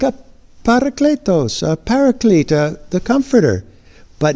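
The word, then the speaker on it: παράκλητος: But right below it is how you pronounce it, parakletos.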